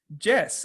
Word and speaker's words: Jess: say yes in English, and my name is Jess.